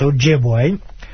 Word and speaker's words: Ojibwe: I'm 25% Ojibwa, as most people on my show know. And in English, it's pronounced Ojibwe.